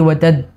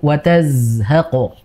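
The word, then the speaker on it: وتزهق: Nah, di situ untuk Z-nya tadi kurang sedikit aliran. Iya. Jadi seperti watad gitu ya, antara jim atau ini yang tidak begitu jelas ya, iya. tidak mengalir. Harusnya dialirkan Ibu, watazhaqo. Jadi jelas, ya, jangan berhenti watad, namun watazhaqo.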